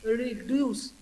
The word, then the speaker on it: reduce: Okay, reduce. Okay, while I pronounce the word reduce, again here e is in the weak form, though e sound is there.